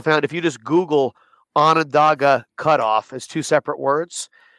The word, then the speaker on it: Onondaga: Onondaga Cutoff.